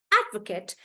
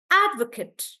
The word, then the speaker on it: advocate: using it as a noun I would stress on the first part and say add Advocate yeah so then the pronunciation becomes Advocate and guys you have to be careful in this particular example that when I'm stressing on add this Kate becomes like cut that's why I'm saying Advocate could right when I use